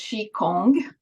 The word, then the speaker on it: Qigong: I know that you touched on Qigong. Am I saying that correctly? Qigong? So we pronounce Qi, like CHI, almost Qigong.